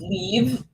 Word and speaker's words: Liv: what's your real name my real name is leave is Viva in Norwegian and seemingly unpronouncable for most people so do I call